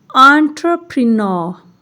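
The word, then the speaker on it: entrepreneur: एंटरप्रेन्योर। ये लिखे में आर आएगा, बोलने में नहीं पढ़ेंगे।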